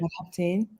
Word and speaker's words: Marhabtain: Matt sent me your website, which if I pronounce it correctly is Marhabtain. Is that right? Marhabtain, yeah.